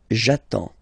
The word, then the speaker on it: j'attends: So the first form will be j'attends. J'attends. Okay? You get D and S. Well, basically you don't pronounce them. Okay? And then you get only the sound attends.